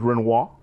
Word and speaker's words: Renouard: No, it's the pronunciation is Renoir.